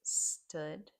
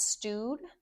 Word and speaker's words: stood: And past is stood. Okay. And let's stand. Stood. Stood. Easy peasy. Stand. Stood. Stood. Be careful. It's not stowed. It's this the oo here is the same pronunciation as in good stood.